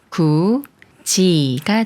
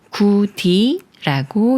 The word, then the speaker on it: 굳이: 소리인 즈로 바뀌는 경우예요 굳이라는 말을 볼게요 먼저 구의 소리를 합해서 굿이라고 읽고 여기 디귿 받침과이 모음이 만나면 디귿 받침이지 소리인 즈로 바뀌면서 구지가 돼요 이응 자리에 디귿이 올라가서 구디라고 읽지 않아요 구지 예문을 읽어 볼게요 굳이